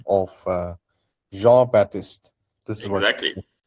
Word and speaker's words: Jean-Baptiste: Today I learned the French pronunciation of Jean-Baptiste.